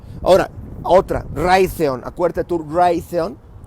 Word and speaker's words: Raytheon: Acuérdate tú, Raytheon, como rayo de Raytheon, se escribe R-A-Y-T-H-E-O-N.